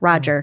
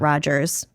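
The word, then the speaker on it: Rodger: Roger, not Rogers.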